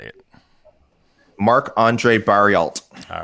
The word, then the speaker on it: Barriault: Canadian Marc-Andre Barriault, if you want to pronounce his name correctly, that is coming up now to weigh in at middleweight.